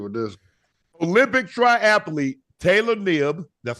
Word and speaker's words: Knibb: Olympic triathlete Taylor Knibb, that's how you say her name, is N-I-B-B.